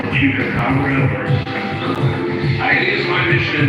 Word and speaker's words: chupacabra: you're talking about what is it called, the chupacabra, It is my mission in life to get people to pronounce that correctly.